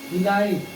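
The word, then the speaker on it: delight: डिलाइट, डी लाइट, डिलाइट means आनंद, आनंद, ठीक है, डिलाइट। अब ये जी एच जो है साइलेंट हो गया, ये डिलाइट, डिलाइट, ठीक है, डिलाइट, डिलाइट में आनंद, ठीक है।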